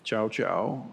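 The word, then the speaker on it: Zhaozhou: if you don't know Master chow chow or Joe shu is pronounced in the Japanese version uh famous uh famous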